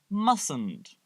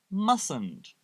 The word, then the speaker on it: mustn't: to point out that we don't pronounce the first T in this negative contraction so we say mustn't mustn't let's practice I'm going